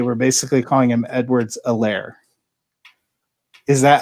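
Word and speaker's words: Helaire: the announcers that ceh his last name the h is silent i have not heard anybody else pronounce it without you know they were basically calling him edwards a lair is that how it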